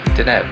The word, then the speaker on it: Deneb: The brightest star in Cygnus is pronounced Deneb, meaning swan's tail.